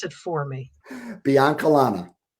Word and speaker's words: Biancalana: So I don't want to screw up your last name, so pronounce it for me. Biancalana. Biancalana.